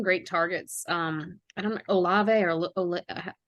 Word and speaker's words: Olave: I don't know, Olave or how do you say his last Chris name? Olave, yes.